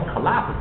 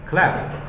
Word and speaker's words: collapse: 这个应该是，这不叫 collapse 吗？后面那个是没发音，collapse，好吧，collapse。